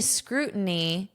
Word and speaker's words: scrutiny: So notice how I pronounce this in American English. Scrutiny, scrutiny. I pronounce this as a flat T If I wanted to pronounce it as if I were reading a dictionary definition, I would say scrutiny, scrutiny, scrutiny. But I speak like a native scrutiny, scrutin, scrutiny. But if you want to pronounce that T, that's fine. Just understand that American English will turn this into a flap T.